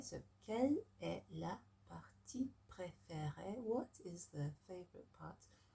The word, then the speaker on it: préférée: So, quelle est la partie préférée?